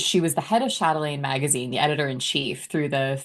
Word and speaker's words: Chatelaine: How do you pronounce the name of that magazine? Chatelaine.